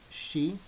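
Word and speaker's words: し: You will notice here that shi is pronounced different. It's sa, shi, su, se, so. So you don't actually pronounce it like you would the others.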